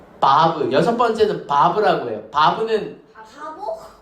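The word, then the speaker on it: וו: 달렛은 발음이 뭘까? 드. 렛. 해, 바브.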